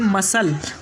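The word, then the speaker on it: muscle: उसके बाद का नेक्स्ट रूल है हमारा कि जब एस के बाद सी आ जाए तो सी साइलेंट होगा।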